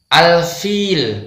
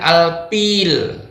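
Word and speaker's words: الفيل: Ada yang membaca dengan huruf P. Tentunya ini tidak boleh ya. Ini yang benar membacanya fi, bukan pi. Al-fil, bukan al-pil. Bedakan antara fi dengan pi.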